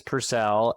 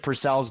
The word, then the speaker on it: Purcell: And I've been told by many people it's Purcell, not Purcell.